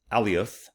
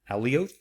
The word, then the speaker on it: Alioth: star right there is Alioth. Alioth? I think that's how it's pronounced.